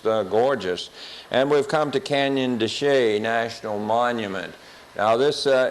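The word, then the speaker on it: Chelly: for on a map it is spelled d c h l l y and doesn't look like Canyon desay at all but that's what they call it uh we're at the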